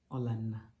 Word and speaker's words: Olanna: Olanna.